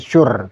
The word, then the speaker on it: Shure: Ini masih ada tulisan bacanya Shure tuh kan.